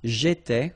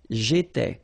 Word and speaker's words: j'étais: J'étais, okay? Remember, here we've got accent aigu, so it goes like et, all right? J'étais.